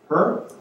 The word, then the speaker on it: Hur: And one last group of people, the Aaron and the Urs, Hers. How do you say that, Wayne? What's that word? Her?